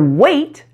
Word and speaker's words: weight: want to mention that the gh in both words is silent as it usually is in English you're familiar with words